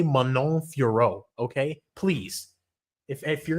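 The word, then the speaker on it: Fiorot: Like I doubt I would have put like a Jordane Furat Zahabi together. I don't know why I call her Furat when it's Furo. The T is silent.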